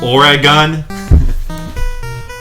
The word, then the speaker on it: Oregon: It's pronounced Oregon.